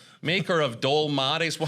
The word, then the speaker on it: dolmades: Maker of dol mades. Well, how do you pronounce that?